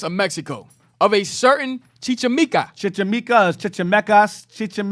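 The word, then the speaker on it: Chichimeca: in gamora's conquests of mexico of a certain chichamika that's how you say it don yeah he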